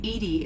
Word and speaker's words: EDI: Edie is the phonetic pronunciation of ED.